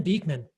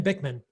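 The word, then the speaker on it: Bikman: to the podcast with ben beekman ben bickman sorry ben i mispronounced your name we talked about adipocyte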